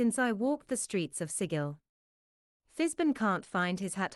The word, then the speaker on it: Sigil: sigle in eons remember beroot it's pronounced like sigle rhymes with Giggle and W be the Burke who mistakenly mispronounces it in front of the Gunner welcome to sigil city of doors most of them are locked